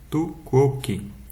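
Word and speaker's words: tu quoque: com mais detalhes e pronuncia-se tu kok literalmente traduzido como você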